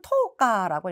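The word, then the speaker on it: 十日: 다음에 본문으로 들어가도록 할게요 하와이니 고가쯔 20일은 여러분 하츠카라고 읽어요 하츠칸이 있겠다 이데 고각질 11은 토오카라고 읽습니다 고가치토건이 오후꾸 미주 망 액노키뽀 비즈니스 크로스대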